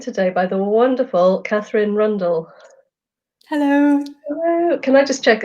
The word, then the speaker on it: Rundell: and I'm joined today by the wonderful Katherine Rundle hello can I just check I'm pronouncing your name correctly yes blue completely right